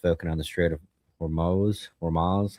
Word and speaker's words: Hormuz: now we're just focusing on the Strait of Hormuz.